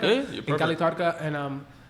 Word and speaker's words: Cali Tardka: Cali Tardka? Yeah, in Cali Tardka.